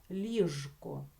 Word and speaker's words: ліжко: маємо написати букву ж і це слово вимовляти з дзвінким звуком ж ліжко ліжко наступне слово сушка